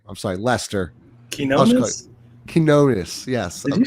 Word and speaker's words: Quinones: You got Trey Alexander, you got Fears, Hunter, Quinoa. I can't pronounce his last name. I'm sorry, Lester. Quinones, yes.